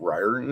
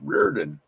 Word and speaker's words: Reardon: And I went ahead and I just chimed into him and I says, "It's not Riordan, it's Reardon."